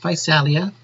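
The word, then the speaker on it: Physalia: zoa's is the genus fight salia so that would be pronounced by salia and it's capitalized these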